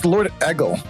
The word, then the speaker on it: LordEgil: Also, it looks like they're in chat, so I'm gonna have to ask, how do you pronounce your username? It's LordEgil.